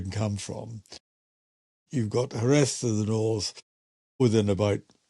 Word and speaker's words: Jerez: There's no J, like Jose. It's not Like Jose. Jose, exactly. Jerez, Yeah. Jerez, Jerez. Yes. And they say it like a TH on the end instead of the Yeah.